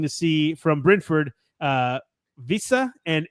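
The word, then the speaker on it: Wissa: see from Brenford uh Visa and Embeo I hope I'm pronouncing those right I say them all the time whenever I'm like, "Oh yeah, it's Whissa and Embemo, but that's that's so anglicized."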